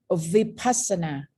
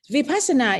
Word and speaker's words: vipassana: know your own environment vipassana in thai language okay if we pronounce it now in a word we call we persona persona but when you go to the the in to the to the west they call vipassana the same vipassana in fact is the